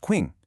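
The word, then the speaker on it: 晴: This combination creates ching pronounced quing super close to our sound buddy.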